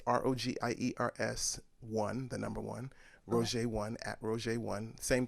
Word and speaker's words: Rogiers: you everybody for listening um my name is roger that's spelled r-o-g-i-e-r-s and you can find me a